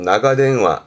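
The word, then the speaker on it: 長電話: 발음은 나가대응화, 나가대응화.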